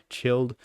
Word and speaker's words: Childe: child studies a little too imaginative lately. All right, this next one, Childe. I still don't know how to pronounce it. I'm pretty sure it's Childe, right? Childe, not child.